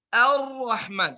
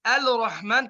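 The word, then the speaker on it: الرحمن: Ya, sekali lagi kita baca Ar-Rahman. Seperti tidak ada lam. Karena ini di sini lam syamsiyah. Baik. Jadi kita baca Ar-Rahman bukan Al-Rahman karena di sini lam syamsiyah la tuntaq, tidak diucapkan.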